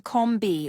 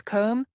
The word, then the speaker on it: comb: The letter B is silent in words like comb, thumb, and climb. Many learners mistakenly pronounce the B at the end, saying comb B or thumb B.